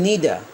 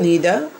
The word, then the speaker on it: neither: এই শব্দটার উচ্চারণ হচ্ছে নিদা, আমরা নাইদার বলি, সঠিক উচ্চারণ হচ্ছে নিদা।